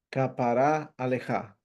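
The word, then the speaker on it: כפרה עליך: Existe un hebraísmo, una frase hebraica que se pronuncia capará alejá.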